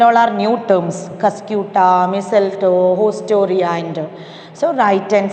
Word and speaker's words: mistletoe: Example is mistletoe. Mistletoe. Here T is silent.